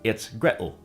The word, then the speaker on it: Gretel: would be water incognates and rather than Gretel it's Gretel and we heard the same thing before in the word bottle which is pronounced bottle other Rhymes reference celebrities and influential